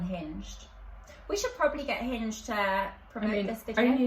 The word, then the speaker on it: Hinge: We should probably get Hinge to promote this video. Only if you say it right, because it's Hinge, not Hinged.